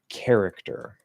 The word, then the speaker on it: character: So it's care, care, and then either it or with a K at the end. So Carrick or Carrick, and then Tur. Now that K can sort of soften the T a bit, make it sound a little bit more like a D, sort of like the S does. Character. So the little hack is to just say it like a weak D.